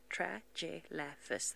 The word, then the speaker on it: Tragelaphus: Tragelaphus. That's how you spell it.